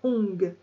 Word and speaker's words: Ong: Quand vous le chantez, rentrez le ventre, serrez les fesses et activez ainsi le premier chakra Ong. Ça s'écrit ONG.